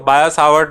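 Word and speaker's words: Biot–Savart: T silent है ना, आप सोचो बायोलॉजी वाला बायो है तो बायो-सावर्ट लॉ, बायट तो कहते नहीं है, टी साइलेंट है, बायो-सावर्ट लॉ, ठीक है।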